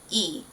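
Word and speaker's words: 이: It's spelled in English with Lee, but in Korean it's actually not pronounced Lee. It's just that straight up E, Min-hyuk.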